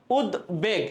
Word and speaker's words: উদ্বেগ: উদ্বেগ, এখানে কিন্তু বয়ের উচ্চারণ হচ্ছে, এখানে কি ব ফোলার উচ্চারণ হচ্ছে।